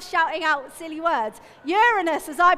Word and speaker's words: Uranus: one everyone loved shouting out with silly words Uranus as I pronounce it is the size of a large